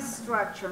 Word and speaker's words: structure: Entonces, cuando tú la pronuncias, no tienes que mencionar structure, no. Es una S.